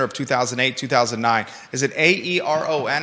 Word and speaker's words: Aeron: asses and there's no parole for federal offenses Aeron is how you say that chair thank you